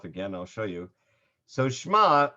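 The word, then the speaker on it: שמע: i'll show you so schma i am you'll notice is kind of a silent a silent letter it's not exactly silent again language scholars say the ion was actually supposed to be pronounced as what they call a glottal stop which means that you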